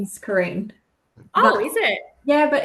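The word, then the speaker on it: Carine: Everyone thinks my name's weird because it's spelled C A R I N E. Yes. I don't know. Karen, but you you pronounce it Karine.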